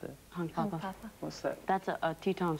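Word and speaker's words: Hunkpapa: And what about the title of the album, Hunk Papa, or how do you pronounce it? Hunk Papa.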